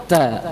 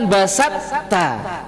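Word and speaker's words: بسطت: Maka membacanya basafta. basata, bukan basatta. Beda.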